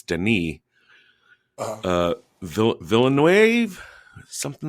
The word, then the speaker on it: Denis: the first i know the pronunciation of the first name that the s is silent it's denis uh villanuev something like